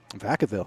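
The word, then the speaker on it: Vacaville: Um something about Veavville. Vakavville. Vakavville. Thank you.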